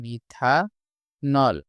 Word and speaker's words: মিথানল: কিন্তু উচ্চারণটা আসবে নল। তাহলে এটার নাম হবে মিথা নল।